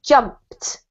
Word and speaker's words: jumped: a verb in english it's really important to pronounce the ending otherwise we can't tell which tense it's in so this is jumped jump yeah and it has a t sounding ending and then the last